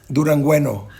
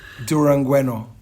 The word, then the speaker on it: Durangueño: Rancho underscore Durangueño. Durangueño. Can you spell that?